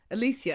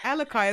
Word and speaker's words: Alicai: you say um alicia i actually pronounced your name alicia until i heard someone say alakai as well so you're